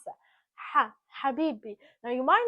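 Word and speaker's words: حبيبي: love this is how you're supposed to actually pronounce that habibi.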